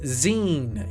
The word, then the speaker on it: zine: Pronounced zine, is a mini magazine made by enthusiast. Gotcha. Like the end of magazine. Well, it should have been spelled z e e n, but I get why it's zine.